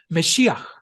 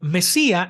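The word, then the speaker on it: מָשִׁיחַ: Se pronuncia Meshiach, no Mesía ni Mesías. Meshiach significa simple y llanamente un ungido, y proviene del verbo mashá, ungir.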